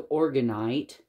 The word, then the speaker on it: orgonite: organite more orgon energy to the organite pyramid that's the correct way to say it oh that's beautiful i